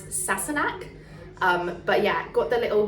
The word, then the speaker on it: Sassenach: So this is from the Sassenach. I say Sassenach sometimes because I'm pretty sure that is the Irish Gaelic way of saying it, but the way it's pronounced in Outlander is Sassenach.